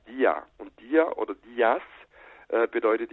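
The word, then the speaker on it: Δία: muss auch wissen, also Zeus wird eigentlich in Griechenland nie als Zeus ausgesprochen oder als Zeus, sondern eigentlich immer als Dia.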